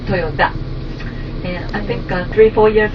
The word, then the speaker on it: Toyota: And does anybody know the correct pronunciation of the family name is not Toyota but Toyota.